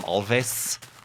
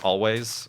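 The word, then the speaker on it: Alvvays: Recently, Always, although it's the W, instead of a W in Always, it's 2 V's. I kind of want to call them Alves, but it's pronounced Always, is another band.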